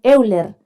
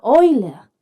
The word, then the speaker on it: Euler: Chiquillos le he dicho tantas veces que se escribe, se dice exponencial y en todo caso el caballero se llamaba Oiler. No le digan Euler, por favor.